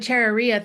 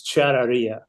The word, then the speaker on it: charrería: Well, as a Texan with my best Spanish, it's charrería. I was close. You're very close, very close. No, Okay. it's charrería.